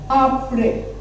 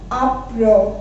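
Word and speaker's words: après: And second example इसका है आपरे। ओके, सेकेंड एग्जांपल है यहाँ पर आपरे, ठीक है। अब नाउ आपरे में विदाउट एक्सेंट हम इसको कैसे प्रोनाउंस करेंगे? आपरो, because E इज ओ in French, तो आपरो।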